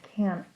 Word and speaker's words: can't: And so you'll hear for the second answer, no, I can't. There's a little t sound at the end of that word.